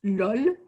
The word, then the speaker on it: LOL: Les Français le prononcent LOL et ça leur arrive souvent de le prononcer vraiment dans une situation à l'oral.